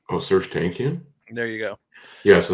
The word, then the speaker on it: Tankian: I have never been able to pronounce that dude's last name. Oh, Serge Tankian?